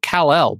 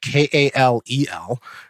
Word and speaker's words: Kal-El: a different book where his name is spelled K-A-L-E-L, right? And so, you know, I imagine it's pronounced Kal-El, but I come from a predominantly Black family, so I know his mama called him Khalil, right?